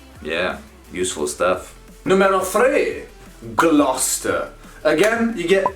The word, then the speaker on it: Gloucester: in the harry potter films but remember it's pronounced gloucester number four a town in east anglia norwich